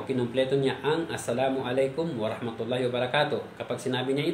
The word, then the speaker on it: assalamu alaikum: ay nagsalam, salam or sinasabi nila na salam alaikum. So hindi po nakukuha yung tamang bigkas po, tamang pagbigay ng salam. Dapat po assalamu alaikum wa rahmatullahi wa barakatuh.